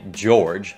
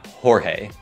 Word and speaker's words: Jorge: Tây Ban Nha, nên họ có những tên có nguyên tắc phát âm theo tiếng Tây Ban Nha. Cho nên, tên này không phải George mà là Jorge.